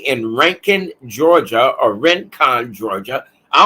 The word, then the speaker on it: Rincon: is located right in Rankin Georgia or Rincon Georgia I don't know why they call it ranking it's spelled r-i-n but it's pronounced r-a-n rent con Georgia all right and